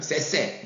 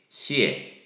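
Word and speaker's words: 谢谢: 말인데, 여러분 이제 우리가 쎄쎄 막 그렇게 하는 경우가 많지만 그것은 잘못된 방식이고요. 중국어를 할 때는 떼어서 발음을 해야 됩니다. 그래서 시에라고 발음하셔야 되겠어요. 그래서 시에 이런 느낌으로 하셔야 되겠습니다.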